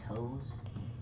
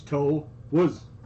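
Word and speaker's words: Toews: one like freaking boom it's actually jonathan toes how is it toes spell it t-o-e-w-s so it's toe was yeah i know it's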